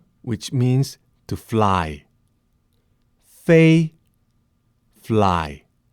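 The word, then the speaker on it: 飞: I will pronounce them for you now. Fu, which means blessing. Fu, blessing. Fei, which means to fly. Fei, fly.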